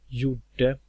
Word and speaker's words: gjorde: Some example of a silent G are gjuta, gjorde, gjort.